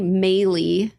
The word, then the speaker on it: Moehle: a website and it's mey is how you pronounce my last name but it's spelled m